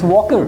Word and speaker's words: Walker: I said it's not Walker, it's Walker. Walker. Just like walk.